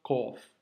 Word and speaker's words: ق: Donc, un petit rond avec cette forme, ce sera le son, la lettre kof.